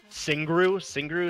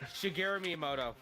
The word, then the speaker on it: Shigeru Miyamoto: So yeah, the creator Singru is that how you say it? Shigeru Miyamoto. Yeah, there you go. Shigeru, yeah, exactly what he said.